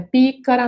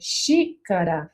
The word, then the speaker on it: xícara: Então, não é pícara, não é fícara, não é xicara, não é xitara, é xícara.